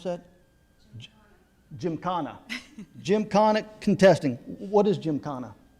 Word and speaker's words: Gymkhana: in, I'm going to mess, how do I pronounce that? Gymkhana.